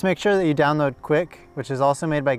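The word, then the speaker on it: Quik: recent footage just make sure that you download quick which is also made by GoPro and it's spelled q UI k the go prop will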